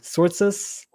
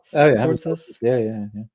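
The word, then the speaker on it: Tzortzis: Sortzes? Sortzes? Yeah. I'm very bad at names, and I'm sorry for mispronouncing.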